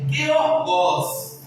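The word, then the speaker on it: γεωργός: A sua pronúncia é georgos.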